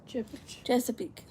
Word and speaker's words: Chesapeake: Chesapeake.